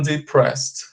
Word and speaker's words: depressed: Você separa aqui na pronúncia, fala depress, aí você pronuncia um ED com som de T, ok?